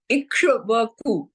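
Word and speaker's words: Ikshvaku: given by Manu was ishaku ikaku it's very difficult to pronounce but it is ikaku that it is in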